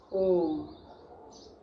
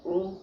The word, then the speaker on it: ओम: श्वास को बाहर की ओर निकालते हुए पहले ओ का उच्चारण अधिक समय के लिए और म का उच्चारण क्षण भर के लिए।